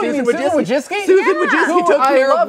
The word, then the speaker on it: Wojcicki: Susan Wojcicki took who care I of Wilbur. So much. Please don't demonetize. That's how you pronounce that last name.